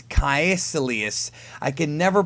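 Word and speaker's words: Kaecilius: name I can never pronounce ever okay it's kelus I can never pronounce his damn name um but I'm pretty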